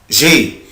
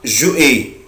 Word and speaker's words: j'ai: أحفظهم هو كده avoir j'ai بس كده اسمها j'ai. في ناس بتنطقها جو اي، طبعا غلط جدا، مفيش حاجة اسمها جو اي.